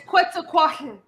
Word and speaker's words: Quetzalcoatl: the name like Quetzalcoatl, it's not actually tall. The TL sound is a sound. Yeah. Yeah, so it's Quetzalcoatl. Mhm. That's the actual Aztec way to sound Yeah, like pronounce it.